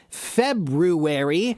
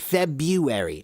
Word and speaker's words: February: February, and if you notice, I pronounce the month February. I don't pronounce it February. February is how many people pronounce it today.